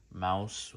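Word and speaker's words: Maus: um bookstore and I came across mouse which is spelled m au s and that caught my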